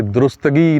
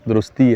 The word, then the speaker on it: درستی: آج جو ہے وہ تلفظ کی جو درستی ہم نے کرنی ہے وہ درستی سے شروع کرتے ہیں کہ درستگی نہیں ہے, درستی ہے.